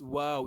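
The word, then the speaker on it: واو: you don't pronounce like how never but you pronounce it as wow it is only W that have that way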